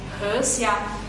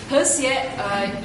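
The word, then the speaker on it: 河蟹: Because river crab in Chinese is called he xia, and he xia, sorry, my pronunciation wrong. He xie, it sounds in Chinese, it sounds like harmony, peace and harmony.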